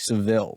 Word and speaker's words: Seville: and it's the fourth and fifth gen Cadillac Seville and no I didn't pronounce Dil wrong it's the sevil although these